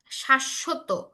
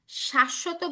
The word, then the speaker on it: শাশ্বত: আহ, শাশ্বত, শাশ্বত বানানটা এইখানে দেখো, এইটা একটা শব্দ। শাশ্বত শব্দের অর্থ হচ্ছে চিরস্থায়ী, মানে যেটা কখনো শেষ হবে না। এই ক্ষেত্রেও যেহেতু বফলাটা মাঝখানে, এই জন্য বফলার উচ্চারণ হচ্ছে।